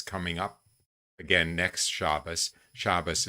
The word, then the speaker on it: Shabbos: Shabbos is just the Jewish pronunciation of Sabbath, in case you're wondering.